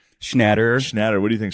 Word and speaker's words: Schnatter: Schnatter.